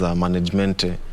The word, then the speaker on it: managemente: Is it management or managemente? That was my former management. It was known as managemente.